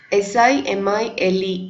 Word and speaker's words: simile: SIMILE is pronounced as simile.